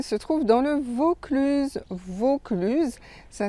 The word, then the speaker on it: Vaucluse: Vaucluse, ça s'écrit V-A-U-C-L-U-S-E. Donc on prononce O fermé, Vaucluse, et pas Vaucluse ouvert. Donc ça aussi, un petit exercice de prononciation. Quand vous voyez A-U, vous devez prononcer le O fermé.